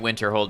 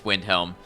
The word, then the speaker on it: Windhelm: windel yep you're right I've been calling it Winter Hold but it's Windhelm yeah so that's the